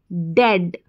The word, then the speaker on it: dead: फिर देखें, यहाँ पर D को ड पढ़ेंगे और EAD को ऐड करके पढ़ेंगे, ऐड, ऐड। अब इसको एड ऐसे करके हम प्रोनाउंस नहीं करेंगे, ऐड, ऐड। तो ये बन गया D को ड और ऐड, डेड, डेड।